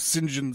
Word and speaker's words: St. John: view to a kill his alias was Sinjin Smyth but it's spelled out see John so he's you guys are doing your research you'd be like what's this guy talking about cinnamon name st. John yet duh that's why you say it that's the way that Roger Moore said it anyways rest in peace